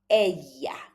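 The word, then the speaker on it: ella: Also the double L is like a E. So it's very soft. Aya.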